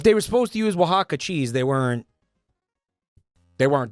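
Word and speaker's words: Oaxaca: And I got to tell you, man, you pronounced Wajaka, right?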